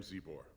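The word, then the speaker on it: Czibor: I am Zebor, the Shaper of Memories. That's how you pronounce that.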